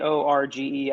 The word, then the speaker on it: Jorge: I mean, some people pronounce Jorge as George. I have heard that as well.